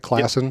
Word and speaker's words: Clausen: Clausen. Yep. Clausen.